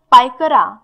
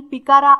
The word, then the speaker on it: Pykara: यानंतर पायकरा किंवा काही ठिकाणी पिकारा असं सुद्धा याचं प्रोनाऊन्सिएशन दिलंय, याची स्पेलिंग आहे PYKARA.